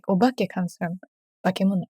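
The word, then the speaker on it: 化け物: And then, okay, the word bakemono, is that just, can I get a genuine pronunciation of that? Yeah, go for it. Bakemono.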